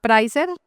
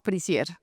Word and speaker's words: Prisier: Bueno, se llama Pricer. Técnicamente nos llamábamos Prisier, pero nadie nos dice nunca Prisier, entonces nos quedamos prer y ya todos le decimos prer.